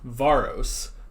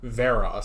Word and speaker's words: Varos: is another instance where I thought it was pronounced Varro's when they're pronouncing it varus since like that's another British ISM I got